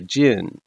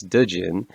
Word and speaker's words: jinn: summons an ancient spirit known as a jinn occasionally mispronounced as djinn otherwise known as a